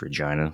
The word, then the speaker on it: Regina: where's where's Regina Hotchkiss town in Colorado it's pronounced Regina but that's okay that is a city in